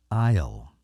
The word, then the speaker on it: isle: not Isle it's Isle you don't pronounce the S you keep that one silent and uh so let's